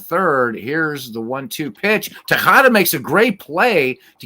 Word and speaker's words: Tejada: Tejada? Yeah. Yeah, so a J is a ch. So now you know. Kind of like you're going to spit on something.